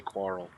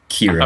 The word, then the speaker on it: Kirill: I keep wanting to say Quarrel. Kirill. I'm sorry, Kirill. I gotta remember it's key.